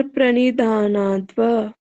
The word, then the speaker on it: प्रणिधानाद्वा: ईश्वर प्रणिधानाद्वा। जी अदिति जी आप पढ़िए। ईश्वर प्रणिधानाद्वा। धा बड़ा है, आ की मात्रा है, अच्छे बच्चे हैं आप लोग।